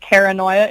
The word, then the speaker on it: Kara Noia: I have I've got a Facebook page just entitled Kara Noia. It's spelled like paranoia, but with a K and a space between the Kara and the Noia.